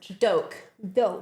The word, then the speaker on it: Doak: Do like an oak tree with a D.